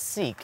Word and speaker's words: Sikh: about today today we're going to explore the sick american culture many americans pronounce it as sikh and that's okay too did you know that